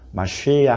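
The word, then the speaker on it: מָשִׁיחַ: 라고 할 때 그리스도는 히브리어로는 메시 않아 메시아를 이제 제대로 해보려고 헌터 발음으로 하면 하하 쉬야 그래서 마슈 해야 그러면 기름을 바른 자가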